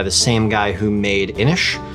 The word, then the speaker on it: Inis: same guy who made inish which i now know is pronounced inish and not innis like i originally thought many people have informed